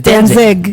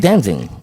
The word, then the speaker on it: Danzig: ant in it yeah and it's danzig dancing no it's not dancing that's how i pronounce it that's not that that's not his name dancing can you go